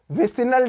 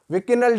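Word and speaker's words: vicinal: तो इसको अगर दो एडजेसेंट कार्बनों पे अटैक कराएगा उसको कहते हैं बच्चों विसिनल डाइहैलाइड या विकिनल डाइहैलाइड, जो भी प्रोनाउंसिएशन आप करते हो।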